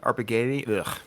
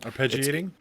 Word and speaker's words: arpeggiating: might refer to our I'm sorry about this pronunciation art but propagating arpegating anyways no arpeggiating yes thank you uh it's where Johnny's finger